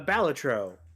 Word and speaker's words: Balatro: the switch apparently oh uh batro uh is that what we call it that's how it's pronounced that is I I had the chance